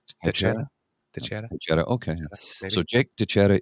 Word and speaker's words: Teixeira: I think that's the X is usually pronounced a CH in that sense. So yeah, Teixeira.